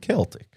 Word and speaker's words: Celtic: It's pronounced Celtic.